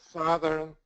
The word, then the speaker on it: southern: Uh south and as if we add ern southern we lose the o. So south southern everybody I want you to remember that.